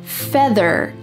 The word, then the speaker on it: feather: Look at the end of the word feather and together. Here is an e r and it's going to be a strong r sound.